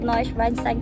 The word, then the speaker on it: Neuschwanstein: today we are in how to say this noise weinstein castle yes in germany it is called neuschwanstein castle and this is the most famous castle